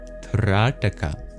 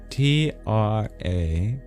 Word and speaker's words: Trataka: It's called Trataka. Trataka. Trataka. The first A is long, and the second T is retroflex. You curl your tongue back for pronunciation purposes. Trataka.